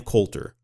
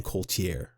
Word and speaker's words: Coulter: So if you do listen to some of my previous podcasts, for example, guys, Ann Coulter, I called her Ann Coultier. I made her French.